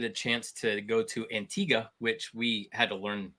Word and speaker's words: Antigua: that that's actually how you pronounce it we thought it was antigua they were like hey you're saying it wrong and we're like we are we're staying around yeah it's antigua so if you ever